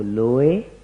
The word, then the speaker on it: लोए: तो उसमें नमो लोए सव्वसाहूणम, तो लोए ये जो खींचा है उन्होंने, वहां पर खींचने की बात नहीं है, वहां उसको एक ही मात्रा में पढ़ना है, नमो लोए सव्वसाहूणम, ऐसा इसका शुद्ध उच्चारण।